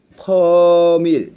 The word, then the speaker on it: 퍼밀: 염분 단위는 퍼밀, 이거 정확하게 알고 있으면 됩니다. 퍼밀이라고 읽는데요.